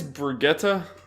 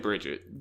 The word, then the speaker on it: Brigitte: Apparently it's Brigitte. Brigitte, I think. It looks like Bridget, but apparently in...